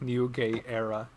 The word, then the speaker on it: Nogueira: Kara so I ran just learned how to pronounce my last name and it's like new gay era and she she's having